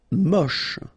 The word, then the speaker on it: moche: Moche. Don't insist on the final E. Then you get the last sound is sh.